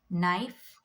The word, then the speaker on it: knife: So in the beginning, if you get K and N words, the K becomes silent. You have to pronounce the N sound. So examples: knife, knee, not, knit, know, known, knowledge, knuckle, night, new.